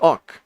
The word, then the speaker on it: awk: A as in fraud, and k as in kind. So awk, yes.